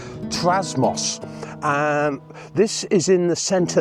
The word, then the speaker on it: Trasmoz: Today I'm at a camper park which is in a place called, if I pronounce this correctly, Trasmoz.